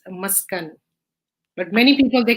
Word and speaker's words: Maskan: pronounce it uh the the right pronunciation is uh maskan so muskan is derived